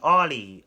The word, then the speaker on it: Olly: on but however they did not mention King Ollie oh yeah that's how you say his name